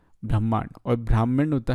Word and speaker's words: ब्रह्मांड: इसकी स्पेलिंग है ब्राह्मण से रिलेटेड, लेकिन इसे ब्रह्मांड बोलते हैं, ब्रह्मांड।